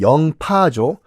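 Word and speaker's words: 寧波: 해요 1543년에 중국 그 명나라 링뽀 우리식 발음은 영파죠 링뽀로가든 포르투갈 이 상인의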